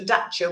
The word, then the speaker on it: Dacia: Why is a dacer called a dacer when it's spelled dacia?